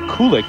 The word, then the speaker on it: Kulik: And by the way, if you're wondering why we are now calling him Kulik instead of Kulik, as he has been known to this point, he informs us that is the real pronunciation, and he'd like to be called that from now on.